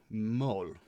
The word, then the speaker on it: MØL: and we're looking at a band called mole pronounced now tried to do some